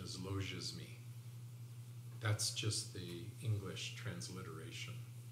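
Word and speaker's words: logismoi: g i s m o i but the pronunciation is loges me that's just the english transliteration logia's mere thoughts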